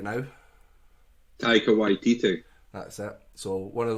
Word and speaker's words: Taika Waititi: So Jojo Rabbit, movie out in 2019 by the director that I can never pronounce his name, so Daniel's going to throw his name out right now. Taika Waititi.